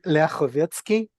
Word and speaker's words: Lyakhovetsky: It's actually Leovetski and I'm struggling it with it myself, so completely understandable.